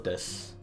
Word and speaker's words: desu: However, there's also this term here at the end, this des, which, again, pronunciation rules, we don't need to pronounce that U at the end. It's just boku wa erioto desu.